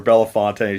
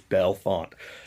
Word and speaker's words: Bellefonte: me some stuff from Bellefonte. I said it correctly, Kate? I always say Bellefonte or Belafonte. She's like, it's Bellefonte.